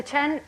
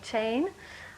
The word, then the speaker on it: Chen: So CHEN, getting the awkward thing out of the way first, is pronounced Chen. A lot of people say chain.